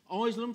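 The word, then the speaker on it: Isleham: at iceland parish council islam for those that don't know is a that's how it's pronounced and b is a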